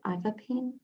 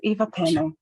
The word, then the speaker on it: Eva Pennell: Is it Ivapine? Thanks for trying, Lisa. It's Eva Pennell, coming to you from Ngunnawal country.